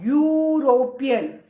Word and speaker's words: European: That means though the spellings begins with E, which is a vowel, but then when we pronounce this word, that y sound is coming.